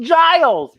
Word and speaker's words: Giles: help as xander says it rhymes with miles and then willow says it's pronounced giles but it's spelled with